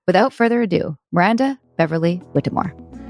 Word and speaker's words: Whittemore: further Ado Miranda Beverly whittimore hi hi Miranda nice to meet you hi I wanted to tell you because everyone always has a hard time my last name is pronounced Beverly witmore got it Beverly Whitmore